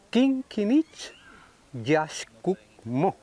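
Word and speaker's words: K'inich Yax K'uk' Mo': Al grado que el gobernante número uno, su nombre que le dan hoy, se pronuncia Kinkinich Yashkukmo, que sería como gran señor, excelentísimo señor Sol, o verde Quetzal Guacamaya.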